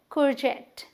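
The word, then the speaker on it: courgette: देखिए कुर्जेट। क्या? कुर्जेट। जेट पे हमें स्ट्रेस देना है, कुर्जेट।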